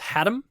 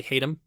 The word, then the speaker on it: Hatem: The screenplay was written by Richard, I think it's pronounced Haddam, but to me I want to say Hatem.